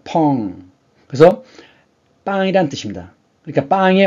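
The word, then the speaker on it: pão: 포르투갈은 이 발음 기호가 펑 이렇게 됩니다. 그래서 이게 이 오가 응 발음이 나요. 펑.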